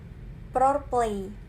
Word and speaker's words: ProPlay: yaitu foreplay the proportion ini merupakan singkatan singkatan dari problem dan er play itu role-playing jadi bacanya proplay Nah model pengembangan foreplay